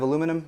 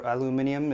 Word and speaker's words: aluminium: these are made of aluminum or aluminium if you want to pronounce it properly and the taller one